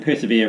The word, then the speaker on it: persevere: And persevere rhymes with beer, and I think I'm going to need one shortly.